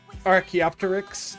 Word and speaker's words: Archaeopteryx: Archaeopteryx. I like to say it with all the syllables, even though both are perfectly reasonable ways to say it.